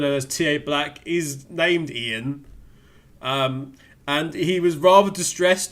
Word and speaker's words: Ian: but for some reason Ubisoft decided that Ian isn't pronounced Ian. It's pronounced iron, which we don't understand how nobody's mentioned this to them in the whole process of making this thing, that nobody at Ubisoft has actually turned around and go, that's not actually how that name's pronounced, And it's especially amusing